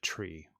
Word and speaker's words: trie: know the difference right perhaps it should just be pronounced tree or Tria should we call them